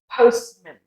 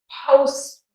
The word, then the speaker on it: postman: So it goes postman. So if you notice, I just go postman. See, do you notice my jaw just drops and forms that natural sound?